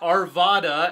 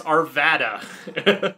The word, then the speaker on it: Arvada: any town in Colorado you can figure out how to pronounce it by just thinking of the widest way you could possibly pronounce it it's not Arvada as many Californians think it's Arvada wow that's uh yes